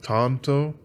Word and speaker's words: tanto: pronounce this blade shape i'm going with tonto because if you're reading it in japanese the language in which had the you know what that came from uh the a's are pronounced as ah they're not a like we say here in the states i could also kind